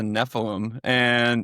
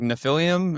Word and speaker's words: Nephilim: And I was like, what the frick is a Nephilim? Or I think I didn't even pronounce it correctly at first. I was like, Nephilium?